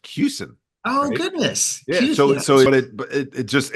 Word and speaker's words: Kussin: a collegial way so my name is pronounced cusin oh goodness so it